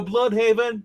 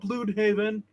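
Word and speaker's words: Blüdhaven: all AB board to blood Haven not Blue Haven we're not German I sure he wishes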